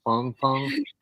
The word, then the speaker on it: Fang Fang: yeah so okay so I'm I'm mispronouncing it it should be Fong Fong yes well I'll I'll